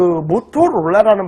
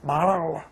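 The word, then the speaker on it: Motorola: 그 모토롤라라는 발음은 없어요, 영어에서. 모토롤라 잘 안 합니다. 마랄라. 그럼 진짜 그래요. I wanna buy the 마랄라 pot. 이렇게 얘기해요. 마랄라 이렇게 발음합니다.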